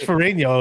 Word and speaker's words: Ferragno: Well, he says Ferragno. I guess that's the original way to pronounce it, but Ferrigno is more of the Americanized way to say it.